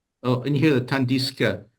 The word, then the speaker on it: tandis que: He pronounces the S, but then it has to move to the next open syllable Tandis que.